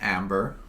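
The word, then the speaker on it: Æmber: the game is to gather enough ember pronounced amber whenever i like amber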